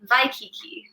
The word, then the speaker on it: Waikiki: Yeah, so Hawaii is traditionally, or the proper way to pronounce it is Hawaii, because in the Hawaiian alphabet, W's are pronounced in the V sound.